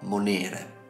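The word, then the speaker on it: monēre: precedente ripetendo il concetto nel caso in cui la penultima sillaba contenga una vocale lunga allora lì posizioneremo l'accento come in monere nel caso in cui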